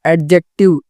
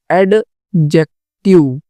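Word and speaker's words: adjective: फिर एडजेक्टिव, एडजेक्टिव, एडजेक्टिव, एडजेक्टिव, सो यहाँ पे भी डी साइलेंट होगा, ठीक है।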